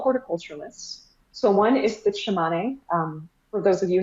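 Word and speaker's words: Tsimane: there they're all horticulturalists so one is the shimane um for those of you not familiar with the shimane their name is spelled t-s-i-m-a-m-e so it makes it easier to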